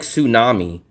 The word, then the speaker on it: tsunami: Whereas herb you pronounce the H just like tsunami. Tsunami starts with the letter T but you do not pronounce the letter T.